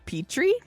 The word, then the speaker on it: Petrie: Men it's directed by Donald Petrie who or Petri however you want to pronounce it either one sounds right to me who also did